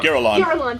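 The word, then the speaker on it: Girallon: I don't know how to pronounce it. Giralon. Giralon, thank you.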